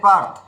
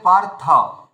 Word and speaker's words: পার্থ: হিসাবে সংস্কৃত গেলে পার্থ কিন্তু হিন্দিতে বলে পার্থ আর বাংলাতে বলি পার্থ মানে বাংলাতে এতটা ওকার লাগিয়ে দি আর হিন্দিতে কি করে অটাকে খেয়ে ফেলা হয় বুঝতে পেরেছেন মানে বাংলা হিন্দি দুটোতেই মুশকিল রয়েছে সংস্কৃততে গেলে পার্থ বুঝতে পেরেছেন ধন্যবাদ অভিজিত